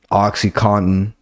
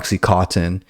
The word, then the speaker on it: OxyContin: of the most popular drugs right now um Oxycontin that's how you correctly pronounce it it's not Oxycontin watch fucking painkillers on Netflix it'll teach you